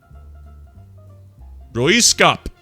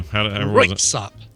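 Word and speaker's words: Röyksopp: Okay, I'm going to say Royskop. No. Damn it. Close though. All right, what do we do? Royksop.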